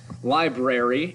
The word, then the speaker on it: library: Library is missing an R right there. Notice that I pronounced it library as I was reading it.